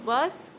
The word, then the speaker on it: vs: we was they but when we pronounce it we can you we cannot use vs we can use verse or verses and we can write